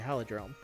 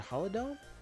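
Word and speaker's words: Holodome: the facility for your hologram there's a hollow dome not the hologram I've been saying it wrong isn't in your time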